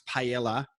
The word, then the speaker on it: paella: Please tell our Adelaide United fans how to say what we pronounce paella correctly.